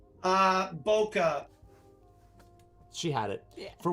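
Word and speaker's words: bokeh: pronounce and i know you know how to pronounce it b-o-k-e-h is it bouquet or boca ah boca she had it yeah for once terry had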